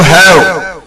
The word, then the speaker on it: ح: This is named or sounded as ha. This letter is called a guttural letter as it is pronounced from the middle of the throat, and the letter ain also gets pronounced in the same way.